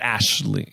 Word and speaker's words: Aisling: Aisling Franceschi, whatever. Yes. Yeah, I believe you pronounced Ashley. Like Aisling is like Ashley. Sure. It is a tough. It's an Irish name.